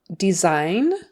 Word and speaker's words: design: we have the word design design that s in the middle is a z sound design do you have